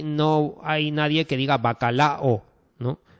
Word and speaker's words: bacalao: hay nadie que diga bacalao, ¿no? Bacalao son tres sílabas, ¿vale?